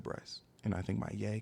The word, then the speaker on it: Bryce: My name is Bryce. B R Y C E. It rhymes.